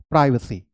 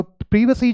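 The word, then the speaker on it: privacy: Okay, तो प्रीवेसी जो है वो ब्रिटिश इंग्लिश में हम बोलते हैं, और प्राइवेसी हम अमेरिकन इंग्लिश में बोलते हैं। तो दोनों एक्सेप्टेबल है एज पर मॉडर्न इंग्लिश। मैं आपको रेकमेंड करूंगा कि आप इसे फॉलो करें, ये बोलने में भी अच्छा लगता है और सुनने में भी अच्छा लगता है। सो यू से इट लाइक प्रीवेसी।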